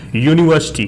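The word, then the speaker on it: university: Vowel लगा दे, नहीं, इसका प्रोनाउंसिएशन क्या होता है, यू से होता है।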